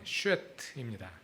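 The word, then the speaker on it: שֵׁת: 셋의 히브리어 발음은 쉿입니다.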